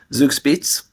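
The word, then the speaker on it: Zugspitze: Is Zug, that how you say it? Zugspitz. Yes, yeah.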